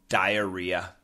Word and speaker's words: diarrhea: then you explode yeah uh that's that's called diarrhea diarrhea the spelling d i a r r